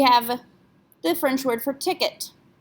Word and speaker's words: ticket: It ends in the letter T, so should we pronounce that T? No, it's not a careful letter. It's not a C, R, F, or L. In fact, ET is a letter combination. We pronounce this ticket.